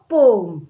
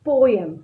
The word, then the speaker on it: poem: new lesson is a poem. Yes kids. Students, I just want to correct you here. Generally, we used to call it as poem, right? But the correct pronunciation is poem, okay?